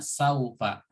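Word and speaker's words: سوف: lokasi nanti ini adalah harokatnya saufa nya dibacanya saufa seperti itu ya Hai nah selesai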